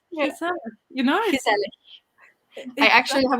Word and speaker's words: gezellig: I have the soft G as well. I'm from the south, so we don't use the hard G. Lol. Yeah, gezellig. Like it's gezellig.